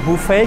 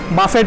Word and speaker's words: buffet: আমরা বুফে খেতে এসেছি। বাফেট নয়, বুফে। বাফে বুফে বাফে বুফে বাফে জাস্ট টিটা সাইলেন্ট।